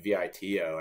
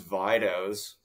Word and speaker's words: Vidos: it too like obviously it's supposed to be Vito I think is the Italian yeah like Nick's Nicks that opinion sort of thing but uh We spelled we chose the dispelling that um everyone pronounces Vitos to the point where